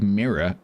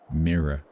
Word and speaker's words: mirror: How do you take mirror and make it one syllable? Mirror. No, mirror. It's two syllables.